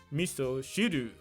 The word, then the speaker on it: miso: reference to miso soup which in japanese is pronounced miso the soup dude tries to get a little